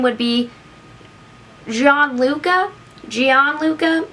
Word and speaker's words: Gianluca: born today his name would be jean luca gianluca it's spelled g-i-a-n-l-u-c-a two thousands hank sharon that'd be